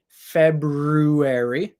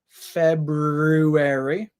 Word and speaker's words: February: you can say it February you can pronounce that R after the B Fe R sound R sound your tongue goes back and up in your mouth February or you can say